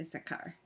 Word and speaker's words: Issachar: I think that's how you say it, Issachar.